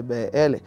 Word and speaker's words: Beéle: Entonces si tú pronuncias la B y la L se dice BL.